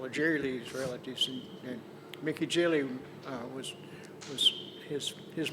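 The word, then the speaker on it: Gilley: well the name's pronounced Jilly yeah and then I said well of course that makes perfect sense that's the French pronunciation well my his Mickey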